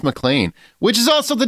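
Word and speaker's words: MacLean: by Ella Pernell and her name is Lucy mlan it's McLean if you look at the spelling but it's pronounced mlan which is also the name of John mcan's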